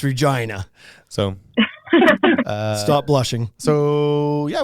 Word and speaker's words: Regina: So I was down in like Regina, and that's not how you say it. That's Regina.